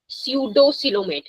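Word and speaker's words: pseudocoelomate: स्यूडोसिलोमेट, पी यहाँ पे silent है, ठीक है, ये याद रखना है आपको।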